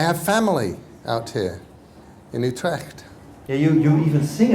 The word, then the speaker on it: Utrecht: That was mostly because Utre rhymes with Vivct.